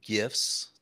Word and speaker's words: GIF: Yeah, and I've actually got like three or four animated GIFs. Yes, it's pronounced GIF. I'm sticking with that.